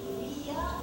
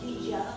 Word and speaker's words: Vija: (mellow ambient music) My name Vija, means a garland. But earlier, Vija was really used in the garland of victory. The garland of (mumbles) And in Indian, it is pronounced Veeja, or Vijay.